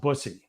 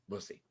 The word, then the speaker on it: Busse: uh you're pretty close it is a variation it's actually pronounced busy busy okay yeah I was